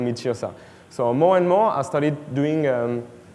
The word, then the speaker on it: Tyrsa: Satire means Tyrsa. So you exchange the letters. So now it became Tyrsa, T-Y-R-S-A, instead of satire, S-A-T-Y-R.